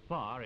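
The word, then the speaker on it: pā: short we saw a real maori power a far is spelled pa is a sort of combined village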